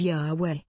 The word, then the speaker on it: Yahweh: are rendered yhvh and the name has come to be pronounced as yahweh or more incorrectly jehovah although the ancient hebrews